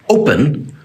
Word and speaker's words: open: second syllables are quiet in the verb open we do not say pen so the second syllable is quad it sounds more like pin and so we know that the o is the strong part of the word the final syllable is